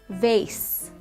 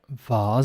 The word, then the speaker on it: vase: vase vars vars actually the last one if we just go back uh vars I say vars uh this can be debatable I think in your I think in your own family even some people can say vase when I was younger I said vase and then afterwards I said Vaz castle castle castle missile